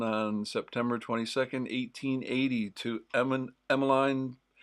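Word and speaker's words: Emmeline: Do you say Emoline? Everywhere I hear it, I hear it. Emoline. But if I were to pronounce that by looking at it, I'd say Emiline. I think that's how I would pronounce it. And every I didn't know any emlines. I knew Emlines. Uh but everyone here pronounces it Emiline.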